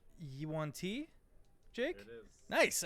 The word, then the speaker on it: yuan-ti: Yuan-Ti?